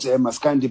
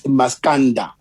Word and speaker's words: Maskanda: They call it Maskandi, and we even accustomed ourselves, pronouncing it like that, Maskandi, but it's Maskanda. Maskanda is the Zulu.